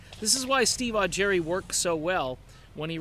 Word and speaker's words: Augeri: you've got a Steve you've got an e sound at the end of his last name you've got Steve odd Jerry this is why Steve augury worked so well when